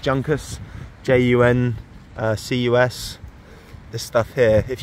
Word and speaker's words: Juncus: I believe it's pronounced Juncus, J-U-N-C-U-S.